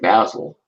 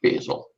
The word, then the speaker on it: Basil: You pronounce it like Basil, not Basil. Basil is the herb.